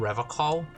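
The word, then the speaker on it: Revachol: revon he pronounces revon with a hard K unlike other people serious question time this man is no innocent no one is you said rev call I like to pronounce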